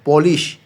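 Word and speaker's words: polis: এটা উচ্চারণটা কি? পুলিশ। তবে এখানে মনে রাখ পি উ দিয়া পু না হয়ে প হবে। তাহলে পলিশ।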